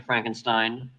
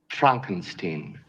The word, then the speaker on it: Frankenstein: have one question dr frankenstein that's frankenstein i beg your pardon my name it's pronounced frankenstein but aren't you the